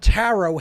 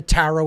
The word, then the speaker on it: tarot: And that is the tarot itself. Okay, it's a phonetic equivalent, T-A-R-O, the last T is silent.